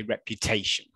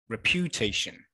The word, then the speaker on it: reputation: By the way, where is the stress in this word? Okay, second. So a lot of you are saying second syllable. So I'll just say it with the second syllable. Reputation. Reputation. Is that right? Okay, no, it's not right. Okay, so let's try on the third. Reputation. Okay, so we can see that it's here, okay, on the third syllable, reputation. Okay, let's go on to the last one, right?